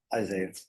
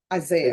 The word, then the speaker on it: Isaiah: How do you pronounce your first name? Isaiah. Isaiah, okay.